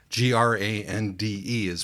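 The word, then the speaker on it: grande: the Audi book and g r a n d is pronounced grandi in Brazilian Portuguese so I was primed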